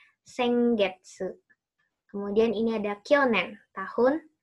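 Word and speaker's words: 先月: Ini bukan sen. Tulisannya sennya sama seperti minggu yang ini ya, sengetsu. Ini bacanya rai ya. Harusnya sengetsu. Ya. Ininya hiragananya salah. Harusnya getsunya getsu. Kan kalian udah belajar huruf G dan su ya.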